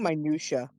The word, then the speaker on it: minutiae: The min minute that I think minutia minutia.